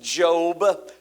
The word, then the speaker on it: Job: So I don't know how this is going to be interpreted to you today, but it's pronounced Job.